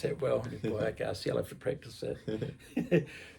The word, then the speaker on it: Nubia Garcia: Nubia Garcia. Yeah. You pronounce that well. Nubia Garcia, I'll have to practice that.